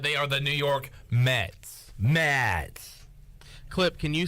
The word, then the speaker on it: Mets: York Met the Mets how do you say it it's like this you got it New York New York Mets Matt Matt's no Mets Mets mess New York they